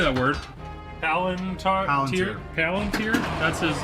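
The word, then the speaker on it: palantír: Palunteer. That's his like name. It's Palenteer.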